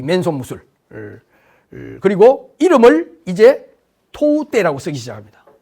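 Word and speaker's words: 唐手: 그다음에 이제 사구가와 강가 시대에 드디어 이 맨손 무술 그리고 이름을 이제 토우떼라고 쓰기 시작합니다. 토우떼는 당수라는 말을 오키나와식으로 읽는 발음이에요.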